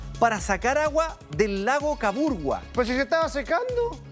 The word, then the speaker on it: Caburgua: Lo otro es caburgua, ¿cierto? No es caburga, es caburgua. Caburgua es lo que me dicen los vecinos acá, que es la pronunciación correcta del sector.